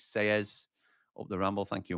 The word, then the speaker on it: Sellés: Double L in Spanish is pronounced as a Y. So it's Selles up the Ramble.